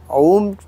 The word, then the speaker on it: ओम: तो इसको जो है आपने ओम कैसे बोलना है, पहले डीप ब्रीथ लेंगे, लंबा सांस लेंगे और उसको तीन पार्ट में उसको जो है प्रोनाउंस करेंगे, अ ऊ और म, ये तीन पार्ट में आप उसको प्रोनाउंस करेंगे लंबा श्वास लेने के बाद।